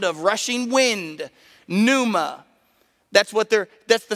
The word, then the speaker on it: pneuma: get the word breath it's pneuma spelled with a p like pneumatic if you have pneumatic